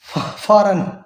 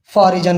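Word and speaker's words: foreign: से पहले आए उसको हमने करना है जी silent. फॉर example, sign, रिजाइन, डिजाइन, और वही फॉरन जिसको फॉरिजन बोला था, या इसको हमने यहां पे हमने फॉरनर लिखा, फॉरिजनर।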